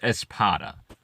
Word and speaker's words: Espada: No, I know some seriously huge fans, especially of Nia and Seg and Espada. Hopefully, I'm saying her name right. No, I'm not pronouncing it right. It's pronounced Espada.